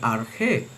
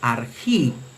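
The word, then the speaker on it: ἀρχή: Por ejemplo, esta palabra que inicia Juan 1.1, en la pronunciación erasmiana se lee arge, que significa comienzo, principio, inicio. Se lee arge en la pronunciación erasmiana, pero en la pronunciación reucliniana se lee argi.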